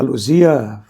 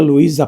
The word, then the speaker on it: Luzia: Para começar, o nome dela tem sido pronunciado errado, né? Você vai ali na praça do Barrocão, vai encontrar lá uma placa dizendo placa Luía Passos. Essa Luía Passos nunca existiu, né? Tá certo que a palavra Luzia e Luía são sonoramente diferentes, mas isso não justifica